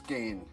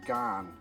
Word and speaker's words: Ghan: thing it's pronounced as Gan as in the Afghan Express and not Gan as I've been doing